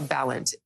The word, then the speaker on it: Balint: And Congresswoman Becca Balint, Democrat from Vermont, joins me now. I want to first ask if I've pronounced your name correctly, Congresswoman. I always say Balint rhymes with talent.